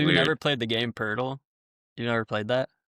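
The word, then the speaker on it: Pöltl: How do you pronounce it? Purle. Yeah, Purle.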